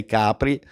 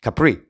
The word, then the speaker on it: Capri: Like in Italian, we say Capri, but I know British, English, Americans, they pronounce Capri.